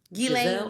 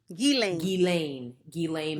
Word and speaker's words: Ghislaine: Ghislaine Maxwell. Ghislaine Maxwell.